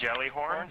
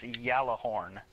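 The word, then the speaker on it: Gjallarhorn: So we got this whole definition of how it's pronounced Yallahorn. Yep. Which is, I think, Scandinavian for jelly horn.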